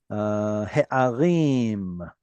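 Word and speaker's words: הֶעָרִים: He'arim, here it has a chirik yod, which is a long vowel, again, in a closed syllable.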